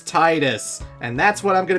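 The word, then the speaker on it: Tidus: willing to die on his name should be pronounced as Titus and that's what I'm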